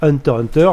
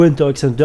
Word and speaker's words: Hunter x Hunter: va être opéré pour le manga Hunter Hunter ou Hunter x Hunter vous appelez ça comme vous voulez même si la vraie prononciation c'est Hunter dans le magazine Weekly